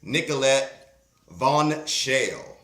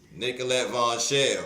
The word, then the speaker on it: Nicolette Vonchelle: the new West Regional director of blexit M nicholet Von shell am I pronouncing it right you did you did good you did good Nicollet Von shell okay so Nicollet first of all where where